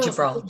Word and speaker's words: Gibraltar: Gibraltar? J, J, Gibraltar.